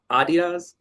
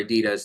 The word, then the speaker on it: Adidas: Adidas? You know how to say it better than me. I always say Adidas over here, and I know that is the incorrect way to say it.